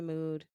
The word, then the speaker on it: Mood: You said It's the mood, store and I that they. food. No. Rhymes with food.